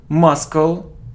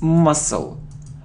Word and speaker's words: muscle: without L walk walk it isn't muscal no it isn't muscle no it's muscle we don't pronounce c muscle it isn't half